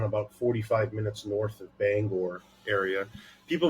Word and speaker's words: Bangor: I'm like, how do you pronounce the word or? I'm like, now put them together, bang or.